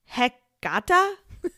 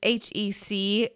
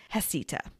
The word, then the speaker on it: Heceta: It looks like it should be pronounced Heceta. It's Heceta. Heceta. Thank goodness for those videos on YouTube, or I'd probably be mispronouncing it this entire episode, but it's Heceta.